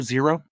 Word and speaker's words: XERO: Jaimen, would you pronounce the XERO 0?